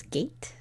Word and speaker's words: gate: Okay, did you add a silent E at the end of that word because you heard that there was the A sound? And did you say the word was gate? G-A-T-E? If you did, that's correct.